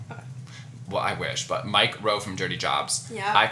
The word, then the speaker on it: Mike Rowe: It's so hard to say his name because it sounds like you're just saying the word micro. So you always have to pause, but Mike Rowe from...